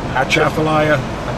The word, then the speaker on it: Atchafalaya: How do you pronounce it again? Atchafalaya, which means long river in Choctaw Indian.